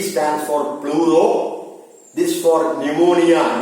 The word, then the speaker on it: pneumonia: This for pneumonia. Pneumonia, P is silent.